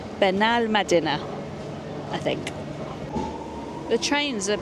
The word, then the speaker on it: Benalmádena: And Ben Medadina, which is what I was saying before, is actually pronounced Benal Mad Benal Medina.